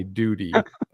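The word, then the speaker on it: Doody: just so you know it's spelled d-o-o-d-y duty but it sounds like duty you guys don't know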